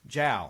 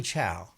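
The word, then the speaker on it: Zhao: name for me chloe jowl chloe chao chloe chow she's british it's spelled with a z but it's jowl it's chow it spells z-h-a-o um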